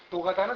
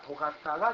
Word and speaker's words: 도가다: 의사, 간호사, 노가다는 사실은 도가다입니다. 도가다가 이제 발음이 잘못돼서 노가다가 된 건데, 노가다는 반드시 여기가 불룩한 바지에다가 여기 치가다비를 신습니다.